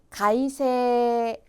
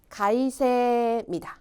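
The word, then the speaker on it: 改正: 준비를 했습니다 자 가봅시다 첫 번째 단어 계정이에요 발음은 가이세 가이세 두 번째 단어도 오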